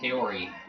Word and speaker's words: Kaori: falls again wow Kori I hate how everyone pronounced their name CI in this game it's Kori I mean come on K or how hard is that K not CI okay here we go